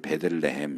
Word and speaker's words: 베들레헴: 그러니까 베이트 레헴, 그걸 이제 붙여서 발음하다 보니까 우리한테는 이제 베들레헴 이렇게 하지만 예수님이 태어나신 곳이 이제 베들레헴이잖아요.